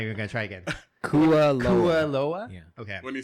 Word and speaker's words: Kualoa: We went to Kahlua Ranch, where it's like for the movies, right? Would you say? Can I correct you? Oh God, did I say it wrong? Yeah. Kualoa.